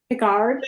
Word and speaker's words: Picard: He said there is no erd. Picard. It's ard.